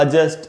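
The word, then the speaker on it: adjust: तो दोस्तों, एडजस्ट, अजॉइनिंग, इस प्रकार से। तो क्या रूल था दोस्तों कि जे के पहले अगर डी हो किसी भी वर्ड में, तो वो साइलेंट होता है।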